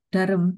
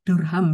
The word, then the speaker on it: Durham: dari Eh Pak Dr Erwin Nugraha dari eh darem eh durham ya durham University salah pronunciation durham University dan juga eh resilient development